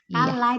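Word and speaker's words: كَلَّا: Kalla itu berarti double. Jadi dibacanya 2 lanya ya Ustazah. Dibaca sahih. Lamnya 2 ya. Lamnya dibaca 2.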